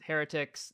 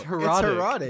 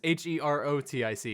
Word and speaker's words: Herotic: No, it's herotic cuz it's with an O. It's H E R O T I C.